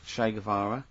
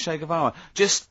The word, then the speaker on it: Che Guevara: Che is like shake, and his surname is like guitar. Right. Chevara.